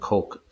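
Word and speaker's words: Koch: Some pronounce that cotch, but it's heckler and coke.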